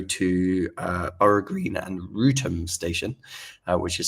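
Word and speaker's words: Wrotham: Um, on the Temp's Link or Southeastern that go to, uh, Ara Green and Rutum station, uh, which is spelled B O R O U G H.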